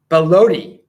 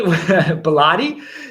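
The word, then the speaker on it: Belotti: it and also adriana baloney I am mispronouncing her name she bellotti she was on the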